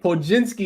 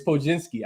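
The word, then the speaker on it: Podziemski: Podzinski is how you pronounce his name. He got like 47 letters in his name, so I always butcher it. But yeah, you're right. It's Podzinski.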